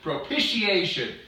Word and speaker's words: propitiation: What was I saying? Propitiation. Man, I was cutting it a syllable short.